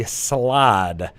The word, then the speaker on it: slaad: side of things with the salade that is how you pronounce it right SLA ad singular slod plural yep this Amati sounds